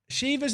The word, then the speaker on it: Shiva: It's Siva, not like Siva. It's not it's pronounced Shiva, not Shiva. Okay, people need to learn about how to write stuff out phonetically, chat. So it's Shiva is what you're telling me, not Shiva. It's like a short I sound.